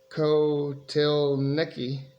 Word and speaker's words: Kotelnicki: As offensive coordinator, Andy Kotelnicki, that's how I was told to pronounce that per Wikipedia, started at Western Illinois in 2004 as an analyst.